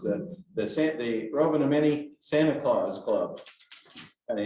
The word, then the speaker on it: Rovaniemi: And it's the Rotary Club of, and I can't hardly say it, but it's Rovaniemi, I think is how they say it. But it's the Rovaniemi Santa Claus Club.